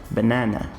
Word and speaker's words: banana: Um outro exemplo aqui de uso do chua sound é na palavra banana. Banana. Percebe que eu tenho aqui uma sílaba o que eu considero aqui como sílaba forte, né? Que é essa sílaba tônica, que é aqui o primeiro na de banana. Banana. Banana. Percebe que a primeira sílaba, eu quase não pronuncio ela, ela é muito rapidinha quando eu vou pronunciar.